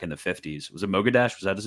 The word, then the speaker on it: Mossadegh: Was it Mogaddash? Was that his name? Mossadegh, like Mossad and then at the end. Mossadegh.